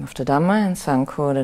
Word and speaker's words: Sangho: But usually I use Buddho, Dhammo, Sangho, the Buddha, the Dhamma, and the Sangha. Which is how they say it in Thai. Buddho, name of the Buddha, Dhammo, name of the Dhamma, and Sangho, the name of the Sangha.